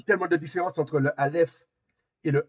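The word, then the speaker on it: אלף: pris naissance alors Vous pouvez dire avec moi alf alf alf alf et la prononciation la prononciation vous et en fait il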